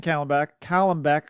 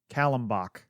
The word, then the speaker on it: Callenbach: This is from Ken Callenbeck. Oh my God, Ken, I'm sorry. Callenbach is how you say his name.